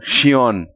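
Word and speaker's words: Sjón: É o Xion. É s J O N, né?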